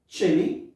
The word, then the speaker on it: Chile: كلمات بعديها تشيلي، نفس النطق واحد لكن الكتابة بتختلف. طيب تشيلي CHILE دي الكونتري اللي هي دولة تشيلي.